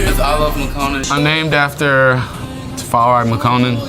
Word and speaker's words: iLoveMakonnen: "My name is iLoveMakonnen."